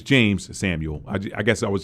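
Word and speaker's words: Jeymes Samuel: in the pre-review y'all I called him jamez Samuel but it's James Samuel I I guess I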